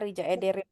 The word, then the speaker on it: Rica ederim: Ini ya Rija Ederim tadi. Kayak ini kan C tapi nggak ada ekor jadi bacanya jadi apa? Rica ederim. C. Rija. Ya. Jadi J. Rija Ederim gitu.